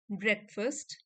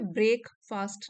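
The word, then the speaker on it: breakfast: After a hasty ब्रेकफास्ट, ब्रेकफास्ट आप भी इसकी प्रोनाउंसिएशन यहाँ पे लिखी हुई है, उसको पढ़ के इसको प्रोनाउंस कर सकते हैं। ठीक है, ब्रेक फास्ट नहीं होता, इट इज ब्रेकफास्ट, ब्रेकफास्ट।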